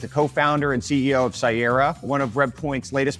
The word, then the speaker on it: Cyera: we definitively agree that we pronounce Sierra Sierra I've heard people say Sierra enough times I think everybody says say I accept the monk